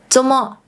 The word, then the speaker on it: 做麼: The first one is 做麼 (zomo) This is how they usually pronounce it: “zomo" 做麼 expresses the meaning of “做什麼 doing what” or “為什麼 why”.